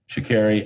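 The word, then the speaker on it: Sha'Carri: just amazing so um it's like mariah carey you see shakiri i'm actually pronouncing your name correctly it's only taken me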